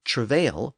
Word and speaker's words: travail: Meanwhile, travail retains the original French emphasis on the final syllable, as is common in French words.